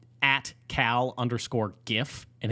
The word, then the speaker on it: GIF: name at cal underscore gif and it is gif okay it's jif but okay the question is you know there's an old english pronunciation of it called gif i think that one's the worst you just i had